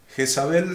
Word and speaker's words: Jezabel: Jezabel se escribe con Z, como se pronuncia, pero con Z, sin S, sino Jezabel.